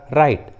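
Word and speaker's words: right: उसी तरह राइट, फाइट, हाइट, देखिए तीनों इंग्लिश वर्ड्स में जी और एच एक साथ है और जी और एच वॉवेल के बाद आए हैं, स्वर के बाद आए हैं, इसलिए रूल के अनुसार जी एच साइलेंट है।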